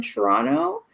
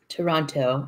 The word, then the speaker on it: Toronto: Like, because you kept yelling at me and how I pronounce Toronto because I say all the letters. Toronto.